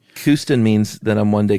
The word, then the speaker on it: Kooston: Kooston. I thought it was Coustin. No, that's what you want it to sound like when you're French. No, this is Kooston. Oh, okay. Like Houston? Exactly, but with a C instead of an H.